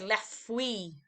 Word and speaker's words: fruits: Can we remember how to pronounce the French word for fruit? Good, les fruits. Okay, so we don't pronounce that TS at the end.